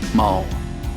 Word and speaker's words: mul: with the demi-human one I have always felt it was way too on the nose to say it that way I say it the way it's spelled mole now that we have